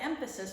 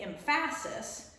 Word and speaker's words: emphasis: It changes the word when you put the emphasis on the wrong one. We don't say emphasis, we say emphasis. It's the first syllable that we say a little bit louder, and we don't say syllable, we say syllable.